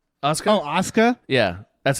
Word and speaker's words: Asuka: Oh, Asuka? Yeah. That's how they pronounce it, apparently.